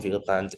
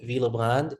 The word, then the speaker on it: Willebrand: So how I like to remember it, von Willebrand, VWD. So von, vessel. So my primary bleeding is affected. Okay. V, now it's the W here is pronounced in the German way, so it's V.